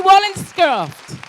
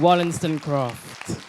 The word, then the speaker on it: Wollstonecraft: Thank you, Mary Wallencraft. I I said it wrong. Wallenston Croft. There we go. Nearly right.